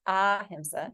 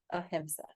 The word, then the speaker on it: ahimsa: So you have the word ahimsa, which you all may have heard, and if you're reading True Yoga, definitely, right? It's not ahimsa, it's ahimsa. And that means without harm.